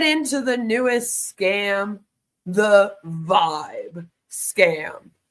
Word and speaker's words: VYB: the newest scam the vibe scam it's VB and it's supposed to be pronounced as Vibe this is their newest